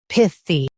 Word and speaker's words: pithy: Pith. E. Pithy. Emphasize pith and keep it quick.